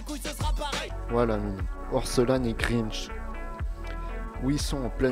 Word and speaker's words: Orelsan: Et les deux derniers sont Orelsan et non, Orelsan et Grinch. Ça se prononce Aurel, San, San, San, San, San, San, San, San, San, San, San, San, San, San, San, San.